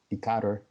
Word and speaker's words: Decatur: She's from Decatur, and did I say it right?